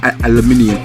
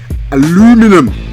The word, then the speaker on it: aluminium: You know full well that we're not going to use aluminium. Well, sorry. I must speak in an American accent because they might not understand me. Aluminum. Aluminum. That's how they say it.